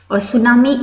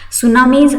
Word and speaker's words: tsunami: japanese word it is it's actually japanese word and t is silent over here translating to harbor wave